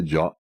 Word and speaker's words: JWT: Jot is just one syllable rather than four.